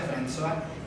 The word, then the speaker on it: François: Francois se escribe, pero se pronuncia François.